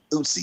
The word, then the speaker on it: Eutscy: Yeah, it's like Utsy, yeah, EUTSCY, like the E is silent.